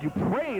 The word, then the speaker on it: Dupree: I apologize, Rob Dupree is the correct pronunciation.